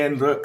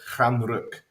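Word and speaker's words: Stjärnrök: uh star smoke um so it's not the end rook or anything like that was the end rock uh it's pronounced fran rook um when i first saw this and obviously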